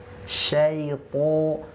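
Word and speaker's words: الشيطان: Syaiton po ti pu. Itu tebal ya. Jangan lupa di sini huruf to-nya tebal. Oke, coba lagi.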